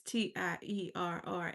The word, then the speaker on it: Tierra: Tierra. A lot of people don't know that my name is spelled that way, but it's Tierra because my mother was fancy, I guess.